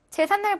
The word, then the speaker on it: 제삿날: 제삿날 보시면요. 제사 한자어고요. 그다음에 날 우리말이죠. 그러니까 한자어와 우리말 결합인 거 맞아요. 그다음에 제삿날 어떻게 발음해요? 제삿날이라고 발음합니다. 니은이 생겼죠. 그래서 3번이 정답이 되는 겁니다.